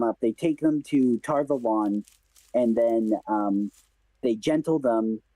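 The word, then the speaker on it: Tar Valon: Yeah, The I don't know how you hear it, but to me, it's always been Tarvalon. that's how the Oh, audiobook pronounces it as well as Tarvalon.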